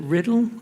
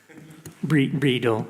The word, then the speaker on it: Riedel: So I'd like to ask Alistair, is it Riddle? And apologies if I've mispronounced your name. Riedel.